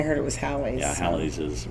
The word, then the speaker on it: Halley's: That is, Halley's Comet, after it's been around enough times, will be Halley's asteroid.